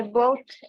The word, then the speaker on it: bought: Nah, ini bacanya the GH, UGH-nya silent. Jadi bunyinya langsung BOT. One more time. I bought a bat at the sporting goods store.